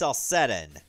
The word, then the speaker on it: Celcetan: Okay, so it's pronounced Celcetan.